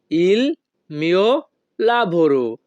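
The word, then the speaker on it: il mio lavoro: বাক্যের ইতালিয়ান ভাষা হবে ইলমিও লাভরো ওয়াল এ ইল মিয় লাভরো এখানে ই এর উচ্চারণ হবে এ যখনই আমরা ইতালিয়ান ভাষায় কাউকে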